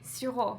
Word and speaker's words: Sirot: This is Sirot, so it's French. Sirot. So, whoa. That's how you say it.